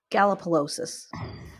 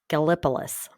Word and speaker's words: Gallipolis: Gallipolis, Ohio. Sorry, I mispronounced that. I say Gallipolis.